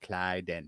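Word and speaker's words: Klyden: Clyden.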